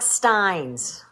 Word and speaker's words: Steins: Yeah, Kathy, it was Mark Steins. Rhymes with Heinz.